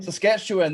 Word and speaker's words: Saskatchewan: Saskatchewan, that's the one.